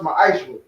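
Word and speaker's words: מעשר: Means tenth in the Hebrew and pronounced ma'ashra.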